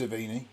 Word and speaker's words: Sevigny: I think it's pronounced Savini.